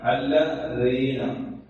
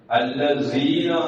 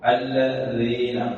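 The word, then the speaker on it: الذين: സിറാത്തയിൽ നേരത്തെ പറഞ്ഞ കാര്യങ്ങൾ ശ്രദ്ധിക്കലോട് കൂടെ തന്നെ അല്ലദീന, ദാലിന്റെ മുകളിൽ പുള്ളിയിട്ട ദാലാണ്, അത് സായി മാറാതിരിക്കാൻ പ്രത്യേകം ശ്രദ്ധിക്കും. അല്ലസീന ആയി പോകരുത്, അല്ലദീന.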